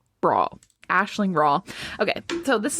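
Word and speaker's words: Rawle: Eileen Rowley. I think she's, one of those UK people. Let me Google. Those pronounce Eiling.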